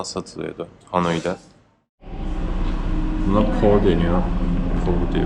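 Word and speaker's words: phở: Pho diye okunuyor.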